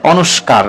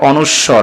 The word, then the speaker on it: অনুস্বার: এটার নাম হয় খন্ডত এটার নাম অনেকে বলে অনুষ্কার আসলে অনুষ্কার নয় এটা হচ্ছে অনুস্বর বা অনুস্বার তারপর এটা বিষ তারপর